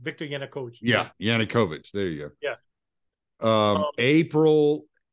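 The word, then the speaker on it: Yanukovych: government that is now in power right Victor yanakovich I said his name wrong victoriana coach yeah yannickovich there you go yeah um April April of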